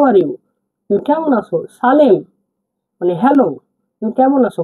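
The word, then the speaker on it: сәлем: হ্যালোকে কাজক ভাষায় বলা হয় সালেম। সালেম মানে হচ্ছে হ্যালো। দেখুন এস এ এল ই এম এ এটা একটু হার্ড করে বলতে হবে তাহলে কি হবে সালেম সালেম সালেম সালেম সালেম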